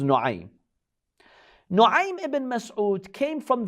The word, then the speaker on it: Nuaym: Some say Naim, but probably the correct pronunciation is Nuaym.